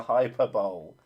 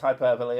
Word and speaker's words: hyperbole: i was using the hyper bowl and yes i know it's pronounced hyperbole i was trying to